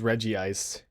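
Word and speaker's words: Regice: It's spelled Reg Ice, but everyone says Reggie Ice.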